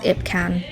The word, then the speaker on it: IPKN: So this is Ipcan. I believe you pronounce it as Ipcan. They make very good powders, but these are like more affordable versions. This is why it's called Ipcan or IPKN and.